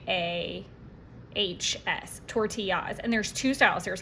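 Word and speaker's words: Tortiyahs: And it's spelled t o r t i y a hs. Tortillas.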